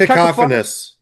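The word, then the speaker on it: cacophonous: Paul Stump in the history of progressive rock called it as a how the do you pronounce that? Cacophinus.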